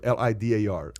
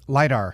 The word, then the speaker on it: lidar: uh cars like litter centers how do you pronounce that word l-i-d-a-r lidar lidar centers sensors soaring but but the hype